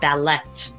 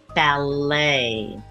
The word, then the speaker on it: ballet: went to the ballet it is not ballet the t is silent ballet be sure to practice